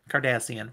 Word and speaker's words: Cardassian: Wait, am I saying that? Because that's Kim Kardashian. I might be saying it quite wrong. Cardassian. No, I am saying it right. Cardassian.